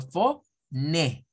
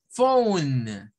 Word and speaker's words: phone: F como una F la ph en el inglés suena como una F luego esta o va a sonar a Oh y al final va a sonar la n entonces ponemos por eso es que vamos a decir phone Ese es el sonido